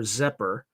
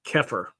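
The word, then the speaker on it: Xeper: Sedians engage in magical workings to en enhance their zepher, an Egyptian term pronounced oh sorry it's pronounced keir adopted by Aino meaning to become or self-evolution. Keer introduced as the word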